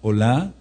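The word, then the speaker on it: עֹלָה: Entonces el Korban, Ola, anoten este sí, O-L-A, con acento en la A, en la fonética, corbán olá, es el sacrificio, o era el sacrificio de la mañana y de la tarde.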